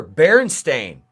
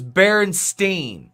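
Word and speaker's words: Berenstain: No don't but they say they say it they say it right on the cover Baron Stain I don't and I Dude as a kid growing up it was Baronstein. It was Baronstein. Everybody remembers a Baronstein.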